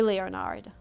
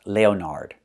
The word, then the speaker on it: Leonard: Again, Leonard, the first one is Leonard, use a short S sound, like red and 10, Len, and then like burger, erd, with a D at the end, Leonard.